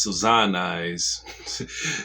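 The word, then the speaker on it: Sazan Eyes: three by three eyes which is pronounced suzanna eyes it's in japanese so zionists is in japanese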